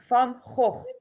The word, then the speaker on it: Van Gogh: How do you say Van Gogh in Dutch? Van Gogh. Yeah, that's why he cut off his ear. It's the harde.